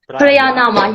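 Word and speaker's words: Pranayama: So they have if I'm right, Priyanama yoga. Priyanama. Yeah, exactly. It's a hard word to pronounce this word. Priyanama. But tell me again. Prayanama.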